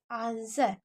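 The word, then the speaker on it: answer: उसके बाद why this आंसर, देखिए आ न सर, क्योंकि डब्लू यहाँ पर साइलेंट होता है, तो आंसर में डब्लू को नहीं पढ़ा जाता, इसलिए आंसर होता है, आंसर नहीं होता है, ठीक है।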